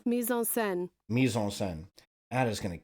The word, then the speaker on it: mise-en-scène: Is the overall design of the mise-en-scène realistic or expressive?